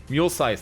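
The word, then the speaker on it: Muelsyse: I still don't know how to pronounce that, actually. Mulesize. Mulesize, that's it.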